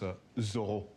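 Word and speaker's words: Zoreaux: our favor thank you Zoro it's actually pronounced a zor why because that's how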